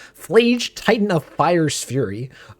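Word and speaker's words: Phlage: I always mispronounce this card. I always forget the L. Flage, Titan of Fire's Fury.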